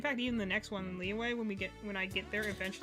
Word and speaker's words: Liyue: In yeah, so it'd be like it's Liyue. It's Y-U-E.